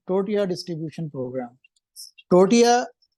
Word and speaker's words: tortilla: टोर्टिया वहां पर जो है, जैसे हम टोर्टिल्ला भी बोलते हैं क्योंकि उसकी स्पेलिंग टोर्टिला है।